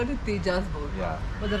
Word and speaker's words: Tejas Borja: you pronounce, is it Tejas Borja or Tejas Borja? Well, you can call both. It is Tejas Borja in India Okay. and Tejas Borja in Spanish, because Okay. J is silent in Spanish language.